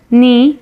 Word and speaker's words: knee: Next word, last sentence is Ahmed's knee got injured.